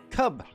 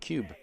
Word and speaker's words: Cub: Aiden saying it's Cub, not Cube. Cubbles.